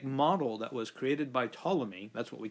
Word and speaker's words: Ptolemy: Ptolemy, his name is spelled in kind of a weird way, but that's his name, Ptolemy.